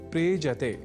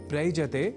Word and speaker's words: प्रेजते: दोनों के मेल से शब्द बनता है प्रेजते। प्रयजते नहीं। ऐसे ही एक और धातु या क्रिया का शब्द है प्रेजति जिसका अर्थ होता है कांपता है।